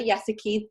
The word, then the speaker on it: Yesiki: me you guys so my name is yes aqui thank you for saving me usually they pronounced it yes you see key so I am 36